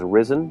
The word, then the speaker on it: Rzen: They can find me on Twitter as Risen, but that's spelled RZEN.